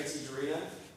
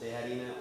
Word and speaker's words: Tijerina: I'm Tijerina. Tijerina. He's from Tijerina. Dallas. Yes, I am from Dallas. You can pronounce it Tejarina or Tijerina. Either way, some people say it.